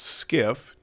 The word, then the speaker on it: SCIF: the definition here a sensitive compartmented information facility pronounced skiff in british and united